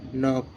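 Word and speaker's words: knock: না গাইস যেমন কে এন ও সি কে নক কে এন ও সি কে নক কে এন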